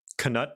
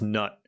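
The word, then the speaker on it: Knut: Canut. No, it's nut. The chiefs have agreed that we pronounce it nut.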